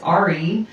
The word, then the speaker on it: Ari: A new lady on the Red Lion is Ari, spelled like Airy.